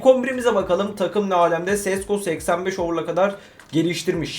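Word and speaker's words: Šeško: Sesco 85 over'a kadar geliştirmiş. Şeesko mu diye okunuyor bu ya? Sesco demeyeyim. Şeşko diye okuyayım abi. Yanlış olmasın. Bu arada Koby Main oynamamış muhtemelen.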